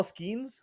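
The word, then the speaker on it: Skenes: Their newly starting pitcher, Paul Skeens. Is that how you pronounce his last name? Yes. LSU alum, baby.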